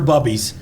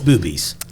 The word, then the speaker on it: Bubbies: Here for Bubbies. Oh, they even put the pronunciation on there because they were like, somebody's going to call this Boobies.